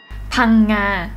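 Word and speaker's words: Phang Nga: Phanga. Phanga. Yeah, that's right. Yeah, okay. Yes. Your pronunciation is really great.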